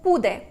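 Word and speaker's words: pude: наголосу тобто в в йо дієслово подер на йо має форму пуде не буде а буде наголос буде падати на передостанній склад і те ж саме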